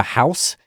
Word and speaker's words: Haus: I'm Alan Seals and our guests for this episode are Casemar Vayz and Nia Thomas who are here representing the house that is spelled h a s no relation to the